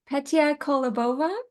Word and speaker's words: Petia Kolibova: I'm Carolyn, and today I get the pleasure of interviewing Petia Kolibova.